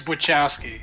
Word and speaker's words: Wachowski: It's Wachowski. Okay, just That was checking. close. I was worried I might have been mispronouncing it this whole time.